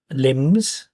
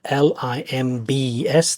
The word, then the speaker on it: limbs: to move its uh limbs so the general word for arms and legs are l-i-m-b-s the B is silent so it's going to be able to I'll add that up there limbs um so we'll be